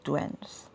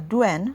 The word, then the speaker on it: douen: So today I'm going to be talking about douens.